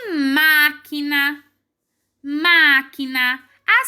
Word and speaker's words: máquina: antes da última então na palavra máquina uma é o mais forte e essa sílaba está bem no lugar de antepenúltima vamos pra próxima a